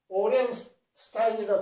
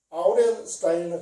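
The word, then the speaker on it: Aurel Stein: 오렌스타인이라 거기다 하고 아우렌스타인이라 그거 발음이 두 가지입니다.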